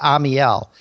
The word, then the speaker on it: Amiel: be determined and um i do pronounce it amiel and nine out of ten people take 99 tries to get it right so we're cool okay three syllables yeah hey no problem i